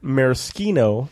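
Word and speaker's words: maraschino: So the brandy crusta is typically made of cognac or brandy orange laour maroschino that's how you say it laor lemon juice and angasura bitters.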